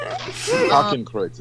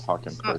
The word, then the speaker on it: Hakenkreuz: Hakenkreuz. It's called Hakenkreuz.